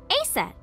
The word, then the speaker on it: Aset: Horace's mom is named Isis, but in ancient Egyptian, it's pronounced closer to Ise or Aset.